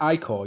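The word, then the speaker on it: ichor: wicked pale cantus no i call i-c-h-o-r it's pronounced i call yes what is that um it's like uh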